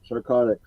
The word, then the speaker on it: Sarchotic: Is that how you say it? Yep, Sarchotic. Sarchotic Studios.